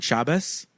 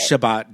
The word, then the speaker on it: Shabbat: a certain way, but they're all pronouncing Shabbos. Mm-hmm. There's a T on the end of it, so I'm like, okay.